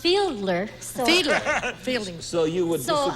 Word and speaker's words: Fiedler: Oh, Fielding. Fielding. Fielding. Fielding. I believe it's pronounced Fiedler. So, Fiedler.